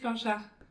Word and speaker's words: Planchat: I'm very happy to be joined by Planchat. Am I pronouncing that correctly? Yeah, good job. How do you pronounce your last name? Planchat.